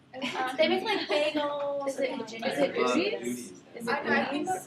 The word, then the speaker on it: Udi's: Is it I think that's what not it is, Udi's, though, but 'cause Udi's Udi's is is same. They I really think did, that- how do you spell that? UDIS. Oh yes.